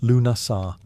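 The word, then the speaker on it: Lughnasadh: Lugnasad, pronounced Lunasar, the Celtic festival honoring Lug, the god of light, craftsmanship, and war.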